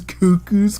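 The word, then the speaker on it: Cucu: Can we get a shirt design And that it- just says Cuckoo's crazy journey, and it's C-U-C-U.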